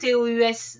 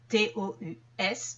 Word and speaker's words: tous: ces le démonstratif exemple tous les jours je fais une heure de sport donc tous les jours je ne prononce pas le S tous mes amis vont